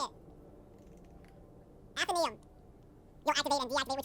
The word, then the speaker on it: Athenaeum: in this area, the Anatheum. No, that's not it. I forget how to say it. Athenaeum. I'm going to shorten the gaps here of the comedy. I forget how to say it. Athenaeum. You'll activate and deactivate which ones you want in this area, the Athenaeum. Athenaeum. Yeah, I was right.